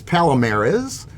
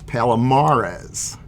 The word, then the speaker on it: Palomares: It's not Palomares, it's Palomares.